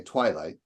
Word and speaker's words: twilight: So here I would say twilight, we don't say twilight, we say twilight. So I think we all agree that twi is the stressed syllable there.